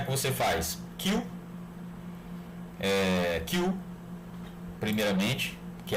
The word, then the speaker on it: queue: Essa interface chama-se Queue, tá? Queue, que se escreve dessa forma. A escrita é um pouco estranha, né? Q-U-E-U-E, Queue.